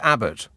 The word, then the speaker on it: Abbot: Simon emails, halibut rhymes with Abbot.